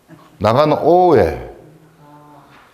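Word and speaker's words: 中大兄: 645년 외국에서도 중대형과 나가노오에 사람 이름이죠. 이걸 이제 일본식으로 읽으면 중대형을 나가노오에라고 읽어요. 그러니까 가운데 중자를 낙가로 읽고요. 그리고 큰 대자를 오로 읽어요. 그리고 형을 오에로 읽어요.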